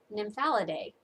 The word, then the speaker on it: Nymphalidae: She misspelled it. Instead of EA that she spelled, it's supposed to have an AE, which would make it Nymphalidae.